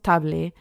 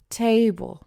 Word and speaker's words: table: I often hear people say table, especially if they're not in in an academy and solo ves las palabras, no decimos table, decimos table.